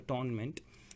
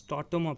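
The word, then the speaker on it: tâtonnement: the tort ornament process it's not the tournament it is pronounced as startoma process okay remember that now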